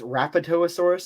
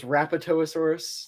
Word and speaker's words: Rapetosaurus: it's so I also looked up how to pronounce his name and it's rapetosaurus and I was like oh thank God okay